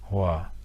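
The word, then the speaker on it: Hòa: Donc c'est légèrement grave, ça se prononce Hoa. Et si vous prêtez l'oreille, vous devriez entendre la différence avec le mot Hoa, qui est le feu, Hoa, qui est la paix et l'harmonie.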